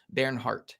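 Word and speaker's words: Bernhard: yeah I researched that apparently it's like air it's like the it's yeah it's Baron Hart Baron Hart is how you say that first name but all right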